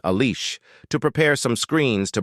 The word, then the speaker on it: Alice: Iceberg wakes up and tells his genius secretary Alice, 7FI in Japanese, with an Italian pronunciation, Alice, to prepare some screens to broadcast Vegapunk's message.